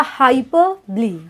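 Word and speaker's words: hyperbole: और next figures of speech is हाइपरबली। इसका pronunciation होगा हाइपरबली।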